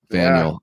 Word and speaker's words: Faneuil: Brown Derby Deli is still there I don't know how to pronounce that. Oh, that's Faneuil Hall. Faneuil.